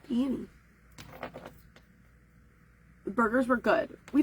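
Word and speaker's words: Peni: And the reason her name is spelled that way is because she was named after Spider-Man, Penny Parker. I wanted to name her Penny anyways, but my kid was really into Spider-Verse at the time when we got her. So Penny Parker's name is spelled P-E-N-I. All right. So she's Penny.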